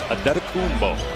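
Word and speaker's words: Antetokounmpo: Pronunciation guide in the Milwaukee game notes, it is Adetokumbo.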